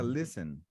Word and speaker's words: listen: Um detalhe importante aqui, pessoal, Jean e pessoal, é que esse T, ele é mudo, tá? Então fica listen. Don't listen to Rob. Don't listen. Listen. Yeah, exato. Você não pronuncia o T, então fica don't listen to Rob.